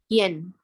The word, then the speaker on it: ian: yen Yen. Okay, so when you see I, this one is more like you have a Y here. Yen.